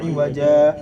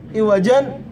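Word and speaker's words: عوجا: Makanya bacanya iwaja. Orang ada yang nyangka kalau di sakta baca gimana? Iwajan qayyiman. Enggak, salah. Iwaja tetap, iwaja. Jadi itu tanwin enggak bakalan dibaca.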